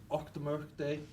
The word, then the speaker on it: Auchtermuchty: Auchtermuchty. It's getting the loch, the och.